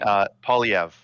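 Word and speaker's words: Poilievre: Yeah, many people say he is And how do you pronounce French. his last name? Polyev.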